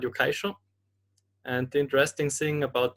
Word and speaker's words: Yokai Show: problems in Austria with the pronunciation of Yokaisho. So we had Yeah. some teachers calling it Yokaishi or something like that.